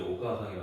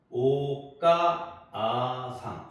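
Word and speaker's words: おかあさん: 분하는게 아니 발음하는게 아니고 그냥 가를 길게 발음한다고 생각하시면 돼 그래서 오가사 오가사 까를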